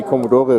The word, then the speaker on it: Commodore: In German we say Commodore, we pronounce the E.